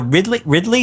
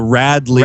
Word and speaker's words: Radley: And how do you say it? The Ridley House? It's the Radley Haunted House.